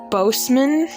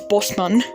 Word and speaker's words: Boseman: like his surname like a lot of people pronounce it boseman i think it's just every time i hear that it just it makes me cringe because it's not both it's it's not bozeman it's boston only the true